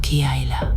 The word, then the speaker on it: Chiela: El J Rod con el que Buris interactuó se llamaba Chiela, pronunciado Kiaila.